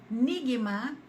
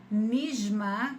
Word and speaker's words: Nigma: árabe egípcio é estrela Lembrando que no dialeto egípcio vocês não pronunciam o Jim que é uma letra do Árabe clássico como J né a gente fala G Então em vez de ser nisma como seria no Líbano ou na Síria por exemplo no Egito